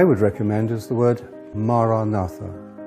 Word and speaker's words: Maranatha: If you choose that word, say it as 4 syllables: Ma-ra-na-tha.